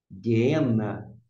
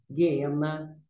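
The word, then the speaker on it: γέεννα: duro você vai pronunciar Lembrando que temos dois m e você vai pronunciar de renda guerena guena inferno nas nossas traduções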